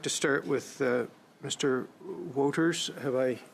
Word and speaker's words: Wouters: Woters. Have I butchered your name, sir? Yes, that's I have correct. butchered your name? Could you correct me? You said it correct. Thank you. Woters? It's Wouters, actually.